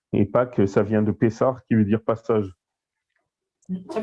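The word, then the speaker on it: Pessah: Donc ça s'écrit P-E-2-S-A-H et ça se prononce Pessar.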